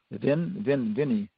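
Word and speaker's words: Vine: then it's called DNA it's how it's pronounced v-i-n-e Victor De Lauria d-e-l-o-r-i-a Junior Vinnie Victor deloria okay and he was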